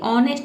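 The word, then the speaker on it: honest: dish ऑनेस्ट ठीक है ऑनेस्ट में एच जो लेटर है ये साइलेंट रहता है ठीक है डिस ऑनेस्ट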